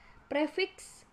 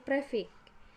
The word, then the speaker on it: prefiks: K5 contoh katanya yaitu kata prefiks dilafalkan menjadi prefix nah yang D penghilangan